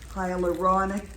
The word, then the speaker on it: hyaluronic: But I was saying that word wrong, and she told me that I had the syllables mixed up. It's hyaluronic acid.